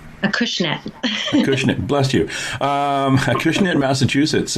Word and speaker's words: Acushnet: And Collective Souls is at 59 Main Street, in a town in Massachusetts that I can't pronounce. Acushnet.